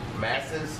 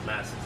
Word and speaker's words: Masses: Masses. Masters. You gotta spell it.